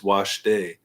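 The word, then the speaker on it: wašté: North America, that so the word for good is washte, but it's spelled the same as the English word waste, waste.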